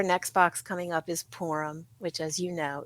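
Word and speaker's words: Purim: box coming up is porum which as you know it's called it's spelled p r i m pronounced porum like p o o r that's what it sounds like yes but as you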